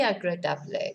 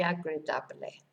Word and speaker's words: agradable: Sometimes people struggle with the blurs. Agradable, not agradable. You know, sometimes people want to say it like agreeable, you know, so they want to say agradable.